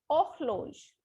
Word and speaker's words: horloge: The word is horloge, means wall clock. H is always silent in French. We will not speak H alphabet in French language. So it will be horloge, not horloge, it is horloge, wall clock.